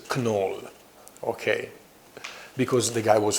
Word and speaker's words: Knoll: German guy so that the original pronounce of this name is Kunal okay because the guy